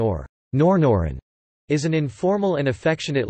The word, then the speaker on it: Norn Iron: refer to Northern Ireland, derived from the pronunciation of the words Northern Ireland in an exaggerated Ulster accent, particularly one from the Greater Belfast area.